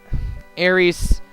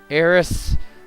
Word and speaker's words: Aeris: happiness and i know i keep switching back and forth between the pronunciation of her name like aries heiress uh sorry to tell you the honest truth but probably heiress is closer because it's like there are transliterations that have it as aerith but uh you'll